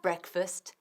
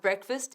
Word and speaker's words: breakfast: Aunque se está escrito break, como el verbo romper, decimos breakfast, sin la A.